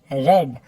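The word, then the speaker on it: read: Next है रीड, रेड, रेड। हाँ बच्चों, मैंने जो सेकंड और थर्ड वर्ब है पढ़ने का, वो मैंने प्रोनाउंस किया है रेड। जैसे लाल रंग होता है ना, उसी तरह आप इसको प्रोनाउंस करोगे।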